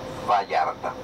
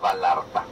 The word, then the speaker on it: Vallarta: Je prononce comme ça le mot Vallarta, parce que le double L en espagnol, il faut le prononcer comme un Y du français. Et c'est sûr que vous avez le son en français. Vallarta, pas Vallarta.